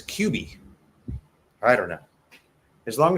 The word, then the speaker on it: Cubi: I think in America it's pronounced Kubi, but I was corrected by a Filipino telling me it was Cubi.